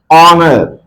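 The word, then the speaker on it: honour: आप एग्जाम्पल देख रहे हैं, एच से स्टार्ट हैं, लेकिन यहां पर एच का प्रोनाउंसिएशन नहीं होता, इसका प्रोनाउंसिएशन है ऑनर।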